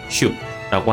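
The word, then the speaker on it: 手: 발음도 한국어랑 거의 같고요. 슈라고 하는 발음이죠. 장음으로 외우지 않도록 조금 주의가 필요하고요.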